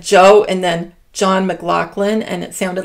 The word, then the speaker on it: McLaughlin: Now, usually, and I know this pretty well, you say that name in that kind of spelling, McLaughlin.